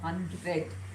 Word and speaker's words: HundrED: Priyank also serves as an ambassador for Hundred that's how you pronounce it and sits on advisory boards for